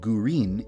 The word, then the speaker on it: Gurin: Midori is the Japanese word for green, and Gurin is the Japanese pronunciation of the English word green.